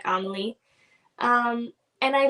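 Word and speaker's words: Emilie: is Emily but like it's spelled e-m-i-l-i-e kind of like Amelie Emily like it's in Germany this is where it's set so it'd be pronounced more like Amelie um and I like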